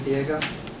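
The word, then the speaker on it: Diigo: ate them anybody use Diego eii geo is pronounced Diego it's a place where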